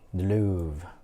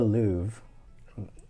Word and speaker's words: Louvre: can't go in but here's the louvre uh musee de louvre i believe is how you pronounce it um so here